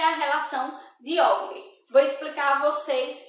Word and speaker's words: Euler: Se escreve Euler, mas lê-se Euler, tá?